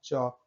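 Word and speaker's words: chalk: Rule number 3 देखते हैं, कुछ शब्दों में के से पहले एल आता है तो एल साइलेंट होता है।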